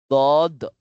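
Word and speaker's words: ض: Ay next dod. Dod. Ay makapal rin siya at mabigat.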